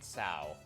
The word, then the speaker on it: Cao: I am Kao, manager of Hayway Trading's Crossbell branch. This is actually Cao. Wow. Cao. One of the only pieces of non-intuitive Romanized Chinese pronunciation that I do know.